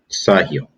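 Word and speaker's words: Sahel: of the uh the sahil which is s-a-h-e-l but it's pronounced s-u-h heel sa hell sahil uh which this means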